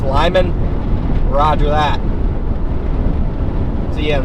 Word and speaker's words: Limon: Pronounced Lyman.